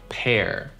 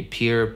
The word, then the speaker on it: pear: Pear. Как bear, как wear. Пишется и произносится. Произносится как слово pear. Пара. Но не пишется так. В общем, pear. Это не peer.